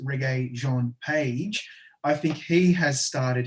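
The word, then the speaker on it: Regé-Jean Page: something and i think if i'm pronouncing it right and tony's suggesting that it's reggae john page i think he has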